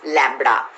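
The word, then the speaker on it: λ: the length right and the inverted y is pronounced as lambda and this lambda is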